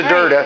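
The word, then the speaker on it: Drda: We know Durda. Right. Durda on the drums, always. My longest running bandmate. A woman whose last name is perilously short of vowels. Yes. That's right. It's spelled D-R-D-A.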